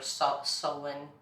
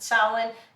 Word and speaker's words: Samhain: in that time they called it samhain or sal sullen um i pronounce it salad but um you know